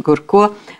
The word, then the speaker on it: Гурко: мы говорим и о генерале горка Иногда правда произносят Гурко но я думаю что